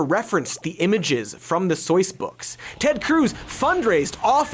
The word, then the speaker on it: Seuss: Take the exhausting Dr. Seuss debacle, and yes, that's how it's pronounced, do not cancel me.